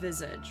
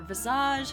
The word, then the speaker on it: Visage: them moving on let's talk about Visage or Visage however you want to pronounce it a lot of people